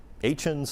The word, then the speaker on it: Etienne: Um Etienne's another one, e t i e n n e. But you say it Etienne.